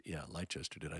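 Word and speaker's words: Leicester: say that right uh it's not Lester it's or is it Americans they don't know how to pronounce these names uh maybe Le it might be leester leester England but anyway it looks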